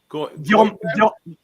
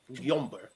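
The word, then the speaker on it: Gyömbér: That's a weird Steve, how do you pronounce this guy's name? Gyomber. Gyomber.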